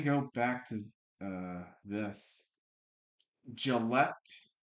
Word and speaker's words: Gillette: Gillet, I think. No, Gillette, Texas or Gillette. Gillette. Kind of like um Gillette the shaving razor.